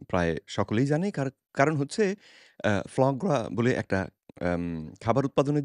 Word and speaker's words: foie gras: পশ্চিমের সব জায়গাতেই কিন্তু নামটা এসেছে ফ্রান্স থেকে। সেজন্য উচ্চারণটা হচ্ছে ফ্লাঁ গ্রা।